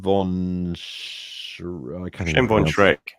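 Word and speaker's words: von Schlebrügge: We also got here Shem von Shrek. Thank you. Von Shrek, as in like Shrek, the green dude. Same pronunciation.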